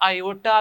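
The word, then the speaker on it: iota: Simple आप इसको बेटा आयोटा भी लिख सकते हैं। जो आई बेटा है इस आई को आप आयोटा भी कहते हैं बेटा, इसको प्रोनाउंस करें तो ये बेटा बनता है आयोटा, ठीक है, आयोटा।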